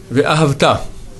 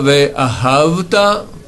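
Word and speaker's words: וְאָהַבְתָּ: Ve'ahavta. Pas ve'ahavta, mais ve'ahavta. L'accent est sur la dernière syllabe. Un peu sur la première, beaucoup sur la dernière. Ve'ahavta, et non ve'ahavta.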